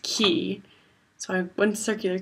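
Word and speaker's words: Quay: is called like Kia spell like q u a y but it's pronounced key so I have one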